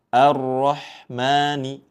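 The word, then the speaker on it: الرحمن: A di awal dibaca tipis, jangan sampai ikut dibaca tebal. Di sini ya. A arrahmani. Jangan sampai dibaca tebal. Arrahman seperti itu ya.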